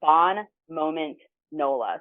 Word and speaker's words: Bon Moment Nola: Um but the website is I'm just going to phonetically pronounce it. It's Bon Moment Nola.